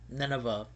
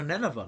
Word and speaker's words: Nineveh: Nineveh, I think is how you pronounce it.